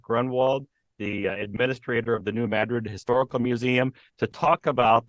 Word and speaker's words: New Madrid: actually we're talking about New Madrid correct badgered yes New Madrid Missouri yes spelled like Madrid pronounced funny though right you know the